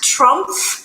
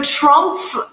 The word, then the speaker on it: Trumpf: i'm working now at trump i am industry manager for aerospace and medical uh if you don't know trump uh make sure you please pronounce the f at the end of the name but it is a